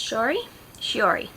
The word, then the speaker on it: Shiori: This one's about Shiori, Princess Shiori, that's how you say her name.